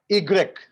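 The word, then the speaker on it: i grec: Right so ये पूरे की पूरी प्रैक्टिस की चीज है सो you have to practice sir Y का प्रोनाउंसिएशन एक बार और बता दीजिए. इग्रेक ई Exact.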